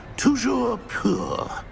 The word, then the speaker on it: Toujours pur: I order you to pronounce it for me. But Master knows that Scrope's French is most pitiful. Very well. Toujours pur.